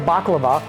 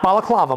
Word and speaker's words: baklava: paid for a Euro a piece of baklava not balaklava Maya a baklava okay not